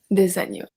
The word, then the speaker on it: agneaux: We obviously don't pronounce the X, un oiseau, des oiseaux, un agneau, des agneaux, un agneau, des agneaux.